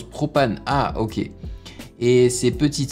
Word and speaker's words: PRX PVNE: La bit maker que tu as vu dans les crédits PRX PVNE, ça se prononce propane.